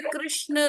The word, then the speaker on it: कृष्ण: विदेशी लोग भी हरे कृष्ण महामंत्र का उच्चारण करते हैं वो ठीक से कृष्ण नहीं बोल पाते क्योंकि उनकी मातृभाषा यह नहीं है लेकिन वह जैसे भी बोलते हैं कृष्णा बोलते कृषणा बोलते जो भी जैसे भी